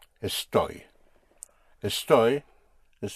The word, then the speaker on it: estoy: I am is a story. A story. A story is spelled E S T O Y.